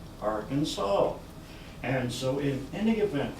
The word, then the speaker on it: Arkansas: Whitney look apparently was quoted somewhere along there as saying that it is going to be pronounced Arkansas whether you like it or not so that